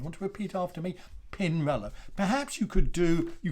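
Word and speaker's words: Pinarello: bike bands it helps if you get the pronunciation right so pin reload you want to repeat after me pin roller perhaps you could do you could do a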